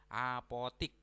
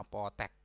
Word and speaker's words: apotek: kalau bakunya yaitu nasihat apotik n kita sering ya ee ee dalam kehidupan sehari-hari sering pengucapannya salah Mau ke mana Mau ke apotk nah padahal itu tidak baku yang bakunya adalah Apotek nah tulisannya seperti ini